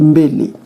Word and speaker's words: Mbéli: Ici, c'est écrit Mbéli, et la prononciation, c'est dit Mbélé.